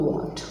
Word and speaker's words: व्हाट: हमें इसको थोड़ा सा क्या बोलना होगा, व्हाट, यानी कि हमें बोलते वक्त लिप्स थोड़ा राउंड शेप में आना चाहिए, व्हाट, नहीं तो ये व्हाट की व्हाट लग जाएगी, राइट।